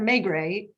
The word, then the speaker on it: Maigret: Yeah, his Inspector Maigret, is that how you say it?